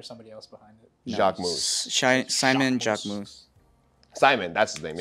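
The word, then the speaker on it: Jacquemus: It's Jacques Mousse?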